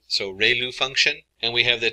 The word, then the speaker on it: ReLU: We have the ru is pronounced like ray the ray of from the sun and lu like a name. So ru function.